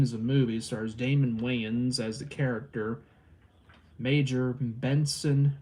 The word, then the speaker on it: Wayans: movie is major pain a movie with damon wayne's damon wayans i know i pronounced that wrong you also got uh the